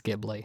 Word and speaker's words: Ghibli: Like I said, most people have a favorite Ghibli movie. Although some people will pronounce it Ghibli as well, which is fine.